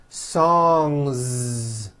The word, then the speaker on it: songs: a voiced n sound so if you make it plural don't forget to add a voiced Z ending you've got one song or two songs two songs now what